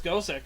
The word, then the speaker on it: Gosick: is it's the way a Japanese person would pronounce Gothic. Also, I thought it was Gothic, not Gosick. No, it's Gosick. Is it actually? Because Yeah. it makes more sense if they're trying to pronounce Gothic.